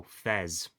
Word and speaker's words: FES: You pronounced him like the first half of festival supposedly. Oh, Fez.